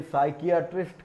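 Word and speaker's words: psychiatrist: Doctors के लिए भी ये साइकियाट्रिस्ट का जो यूज़ किया जाता है उनमें भी यही वर्ड होता है जिसमें पी यहाँ पर साइलेंट होता है।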